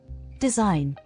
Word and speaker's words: design: silent G rule one the letter g is silent in Words with combination of i g n resign align foreign assign design sign campaign rule two